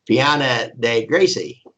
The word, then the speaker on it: Piana dei Greci: one little town of Piana dei Greci. Would that be how you pronounce that? G-R-E-C? Piana dei Greci. It'd be Greci, like okay. CH.